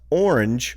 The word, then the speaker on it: orange: I was intrigued to hear John pronounce orange with 2 syllables, but Hank pronounce it with only 1 syllable.